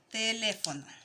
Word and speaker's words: teléfono: Aquí las esdrújulas son las que se marcan en la tercera sílaba, ¿ya? Contando desde el final hacia adelante. Entonces, 1, 2, 3. Teléfono, ¿ya? Tiene dos sílabas después que no tienen acentuación.